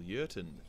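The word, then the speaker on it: Jurten: the name of colonel yerton starts with a j but because he's german the j is silent urton got in contact with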